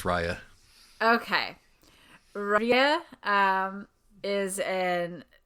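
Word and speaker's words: Ryia: her name pronounced yes I am 100% certain that it's Rya for reasons which I'll go into later but it is Rya okay Ria um is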